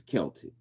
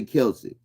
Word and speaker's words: Celtic: It never says K. It says Celtic.